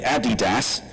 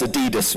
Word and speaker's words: Adidas: And he is the creative director of Adidas, and I'm English, so I'm going to say it correctly, Adidas, none of this Adidas rubbish, but he's also been